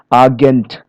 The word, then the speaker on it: Agent: So here many foreign loan words, usually of French origin, okay, they stress the final syllable as in the source language. Final syllables here in agent.